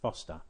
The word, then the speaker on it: Forester: it faster in blue although it's spelt Forester it's pronounced foster an odd place but